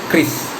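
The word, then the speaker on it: QRIS: Nah menurut Bank Indonesia yang bikin itu Chris, KRIS, cara bacanya kayak Chris gitu, KRIS. Mungkin agak bingung karena kenapa depannya kan biasanya disebutnya Q ya, kenapa nggak Curious gitu. Padahal memang coba kita lihat di ejaan kita ya, huruf Q itu Q gini, Q kita menyebutnya Q. Berarti kalau jadi singkatan memang harusnya Chris ya, Chris itu.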